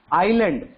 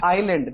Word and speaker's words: island: You have to pronounce island. There S is silent. S is silent. You have to pronounce island, not island.